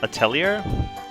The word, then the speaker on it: Atelier: of my playthrough of ader or as it pronounced atellier Esa and logi uh